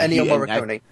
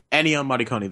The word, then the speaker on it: Ennio Morricone: It's Ennio Morricone or something like that. Something like, I can't pronounce the name properly, probably, but that old famous composer. Yes. Ennio Morricone. Ennio Morricone, there you go.